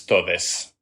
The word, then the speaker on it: todes: But whether it's an X or an E or the @ sign, they all tend to get pronounced as E. So it'll all come out as todes for the most part.